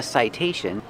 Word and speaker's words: citation: Citation, the T makes a T sound because it's before the stressed vowel.